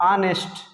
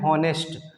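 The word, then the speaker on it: honest: इसको बोलते हैं ऑनेस्ट, ऑनेस्ट है ना, लेकिन कुछ लोग इसको बोलते हैं हॉनेस्ट, हॉनेस्ट, जो कि बिल्कुल गलत साउंड है। क्यों? क्योंकि ओ से पहले आया एच साइलेंट होता है।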